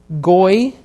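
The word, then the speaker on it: גוי: Goy, you have the yod here acting as a consonant with the holem vav in between as the vowel.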